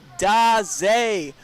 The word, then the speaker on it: Days: It is pronounced Daze.